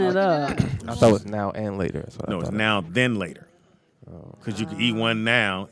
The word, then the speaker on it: Now and Later: success but I think now laters for black folks even though it's not pronounced now later it's pronounced man then later no now the van frost its noun then later it's now then later pull it up read